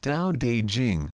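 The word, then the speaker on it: Tao Te Ching: Long ago, the first time I read the ancient Tao teaching pronounced Dao De Jing, I ran into so many apparent contradictions that I felt like I was going crosseyed with confusion.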